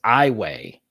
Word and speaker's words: Iowa: will like the state so it's i way even though it's spelled iowa highway uh what a